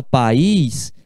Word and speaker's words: país: país ex-grande Ele país rico quando você fala país se pronuncia duas sílabas pa país para aqui isso esteja escrito